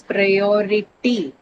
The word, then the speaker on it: priority: Then the last one is priority. Priority. OR. ITY. So it's an I, correct. OR on the O syllable because ITY, the last one, it's a suffix. It's an I category suffix. All the I category suffix takes over the penultimate or the syllable right before the one carrying the suffix.